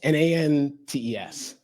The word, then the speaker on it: Nantes: T-S, N-A-N-T-E-S. Yeah, but it's pronounced Nantes, I think.